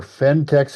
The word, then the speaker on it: Phentex: say eBay or Amazon, you look for Fentex, and that's spelled Phentex, craft and slipper yarn.